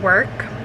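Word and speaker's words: Werk: And then this is the lip and cheek stain in Work, and this is what it looks like.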